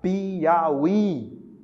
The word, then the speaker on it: Piauí: Piauí. Viu só? Você tem aí a posição final, o hiato na posição final, formando sílaba sozinho.